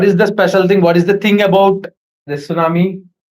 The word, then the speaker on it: tsunami: For say, the phonetical transcription of tsunami is So, this is the phonetical transcription of tsunami. Here, we don't have T.